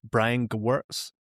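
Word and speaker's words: Brian Gewirtz: Like the most recent one I read was Brian Gwartz, that's how you say his name.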